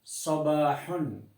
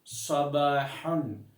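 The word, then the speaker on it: صباحًا: சபாஹன் அது சாதாக உச்சரிக்க வேண்டும். சபாஹன் இறுதியில் ஹா அது காற்று வெளியாக வேண்டும். அப்பொழுது தான் அந்த அரபு வார்த்தை சீரான உச்சரிப்புக்குள்ளே வந்துவிடும்.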